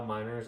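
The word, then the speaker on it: Meinerz: Quin miners oh Quin I think it's pronounced miners right Manas okay um that's what I originally thought but then I heard somebody say miners so I was like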